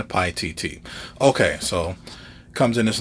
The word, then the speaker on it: Paititi: don't make that mistake i'm just going to go with this pronunciation pi tt okay so comes in